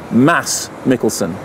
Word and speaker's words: Mads Mikkelsen: Incidentally, I am assured by Thomas Vinterberg that that's pronounced Mads Mikkelsen. Apparently Mads is just something that we say over here, but he said it's okay, everybody says it, so carry on.